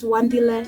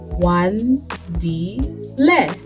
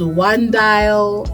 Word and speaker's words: Wandile: names out there because you pronounce it as you read it Wan di le Wandile but I've been called one Dial I've been called one-dil latest is one d